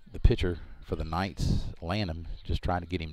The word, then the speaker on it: Lanham: Landham is actually how it's spelled. Lanham.